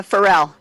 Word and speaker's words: Pharrell: girl happy by uh pharaoh williams yep or for real how do you say his name uh pharrell pharrell there you go i got a feeling